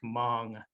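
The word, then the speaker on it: Hmong: been saying it wrong it's actually supposed to be pronounced more like mong like mine i don't know i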